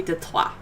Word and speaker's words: Detroit: Detroit is technically Detroit. That's actually how you're supposed to pronounce Detroit. It's French. It's Detroit.